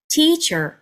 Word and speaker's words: teacher: 네, 강세가 어디에 있냐면 네, 앞부분에 있습니다. 네, 앞에 첫 음절의 모음에 살짝 길이감을 더합니다. 그래서 teacher가 아니라 teacher, teacher, teacher 이렇게 발음하시면 안정적으로 단어를 발음하실 수가 있습니다.